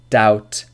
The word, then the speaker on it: doubt: yes rule number 2 B is usually not pronounced before T at the end of a root word for example debt doubt subtle subtle doesn't example